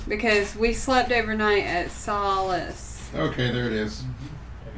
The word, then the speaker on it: Solace: Solless. Solace. Solace. I do it every time.